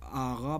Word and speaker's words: آقا: کی طرح نکالیں گے۔ مثلاً جہاں کہیں آقا لکھا ہوگا، اس کو ایرانی یا فارسی لوگ آغا پڑھیں گے، آغا۔ تو آپ بھی کوشش